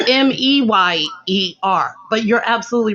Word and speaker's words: Mayer: it every day m-a-y-e-r so it was always oscar mayer but we just pronounced the meyer meyer yeah that's weird right right